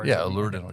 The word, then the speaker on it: Allure Dental: Allure Dental, you got it. Allure Dental.